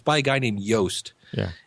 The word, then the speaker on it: Yoast: It's by a guy named Yoast. Yeah. And rhymes with toast.